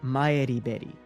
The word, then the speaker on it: Maribel: of Japanese university students named Maribel Hearn and Renko Usami, though Maribel's original pronunciation is closer to Maeriberi.